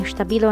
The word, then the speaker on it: Stabilo: yes i keep saying stabilo and stapido i guess you can say both ways both are socially acceptable don't worry this is how they pronounce it in germany and i say stabila